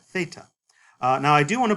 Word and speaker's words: theta: So it is not this kind of TH sound at all, but it's like the TH in think. That's theta.